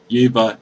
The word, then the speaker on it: Yeva: Arbor Elf, Prey Upon, Tormented Souls, the Rancor, Yavis Nature's Herald. Yeva Nature's Herald. Ugh. If you're gonna say it, Miles, say it right.